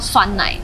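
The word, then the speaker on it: 酸奶: Let's eat their yogurt In Taiwan the pronunciation is yōu gé and you call it suān nǎi It has 2 flavours honey and caramel Let's try Honey first Not bad!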